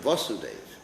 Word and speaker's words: Vasudeva: And Krishna, Vasudeva Krishna, is the actual son of Devaki and Vasudeva. Remember, I'm pronouncing that word, Vasudeva, Vasudeva. Remember that. Listen to the pronunciation.